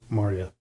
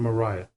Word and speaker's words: Maria: end with your devoted Maria now you may have noticed I've pronounced her name two different ways Maria and Mariah they're kind of interchangeable from what I've seen